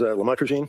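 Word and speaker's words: lamotrigine: drugs about the the lamel otherwise known as lamatrogene. Did I pronounce that right?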